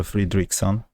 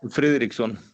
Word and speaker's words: Friðriksson: Fridriksson. Hello. Did I pronounce it correctly or Almost. Fridriksson. Yeah, the D is silent.